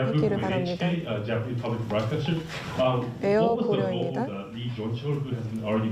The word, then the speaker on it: Air Koryo: 제가 제대로 발음을 하기를 바랍니다. 에어 고려입니다.